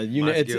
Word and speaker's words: Montague: What do you get, like Montague? You nailed it, yeah. Montague. It's rare. I get a lot of Montagues. I get weird ones.